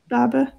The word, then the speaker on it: Babergh: Babergh. Do you guys know how to pronounce that? Barber. Yes.